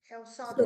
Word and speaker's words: Sótão: Aqui hay 2 acentos, en la O y en la A.